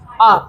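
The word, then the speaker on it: our: और वी का बन जाएगा आर, ओवर जिसको बोलते हैं वो, लेकिन आर है, उसका सही प्रोनाउंसिएशन क्या है, आर, ठीक है, आर।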